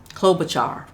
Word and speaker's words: Klobuchar: Our last leader that I'm highlighting tonight, is Amy Klobuchar. I cannot pronounce her last name. I never can. Every time I try, I just mess up. But Klobuchar, that's it.